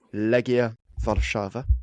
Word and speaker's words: Legia Warszawa: Legia Warszawa.